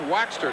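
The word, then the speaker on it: Waechter: He said, "It's Waxter, just like Beeswax." And so, Henry Waxter, congratulations.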